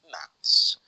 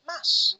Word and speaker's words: maths: so the pronunciation is maths but some people they pronounce it Mass like m a double s this is reduction okay